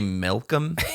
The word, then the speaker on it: Malcolm: Not Mel. Like Melanie. Malcolm.